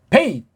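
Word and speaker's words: בית: 베이트 그렇게 읽어야 돼요. 소리를 베이트 그렇게 발음하면 매가리가 빠져요. 베이트 앞에다가 힘을 주고 뒤에 트라고 살짝 베이트 트를 소리의 틀이 안 잡히면 그 트자가 안 들려요 잘.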